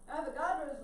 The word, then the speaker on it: Avogadro: numbers all right so that's again elastic flaw avogadro's law so this is counts it's a media